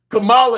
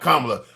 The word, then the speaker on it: Kamala: Kamala is what you guys keep calling her. Not Kamla.